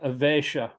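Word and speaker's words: Āveśa: The S with a slash over it is pronounced SH, just like Śikṣāṣtaka. The slash above it or a dot below the S is both pronounced SH. Just a little bit different in the intonation.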